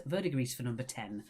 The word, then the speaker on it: verdigris: It is verdigris. Verdigris for number 10. You don't pronounce the S.